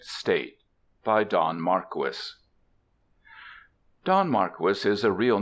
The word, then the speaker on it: Marquis: by Don Marquis Don Marquis is a real name not a pseudonym it is pronounced Marquis not Marquee I reprint here two